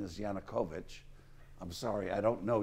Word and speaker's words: Yanukovych: Yanukovych, I keep saying Yanukovych, but I've been corrected by the media. Apparently the correct pronunciation is Yanukovych.